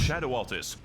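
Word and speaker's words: Scadu Altus: It's pronounced Shadow Altus.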